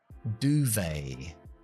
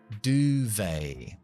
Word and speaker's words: duvet: Duvet. Duvet. No pronunciamos esa T.